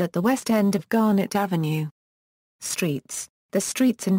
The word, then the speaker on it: Garnet: fallen out of use, Garnet, pronounced locally with the second syllable accented, unlike the pronunciation of the stone.